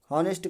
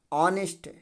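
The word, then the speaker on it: honest: कहां पढ़ते हो जी नेस्ट कहां पढ़ते हो नेस्ट नहीं है बिल्कुल नेस्ट नहीं है क्या है ऑनेस्ट क्या है ऑनेस्ट क्या नियम बोलता है ओ से पहले य हमेशा क्या होता है साइलेंट होता है है तो ओ से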